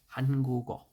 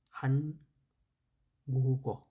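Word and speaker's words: 한국: খ গি একটা বাক্যের নিচে বসলে, বাচ্ছিমের স্থানে বসলে সেটার উচ্চারণ ক এর মতো হবে। এক্সাম্পল স্বরূপ আমরা একটা দেখতে পারি, হানগুগ।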